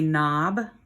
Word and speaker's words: knob: not use it again this is a knob you might think doorknob but up here it's just written as a knob here's another silent word silent letter word that's a knife that